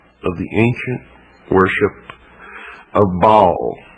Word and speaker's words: Baal: For this is the only ancient portion, the beginning of the ancient worship of Baal, or Baal as some pronounce it. Ba was the sun, El means God.